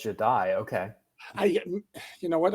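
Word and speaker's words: Jahdae: Apparently, it's Jadai. Sorry, I not not Jade. It's Jadai.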